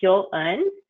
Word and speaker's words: Hyo-eun: It's pronounced yo with an H in front of it, so Hyo. And think of the number, French number 1, un. And so it's Hyo-eun.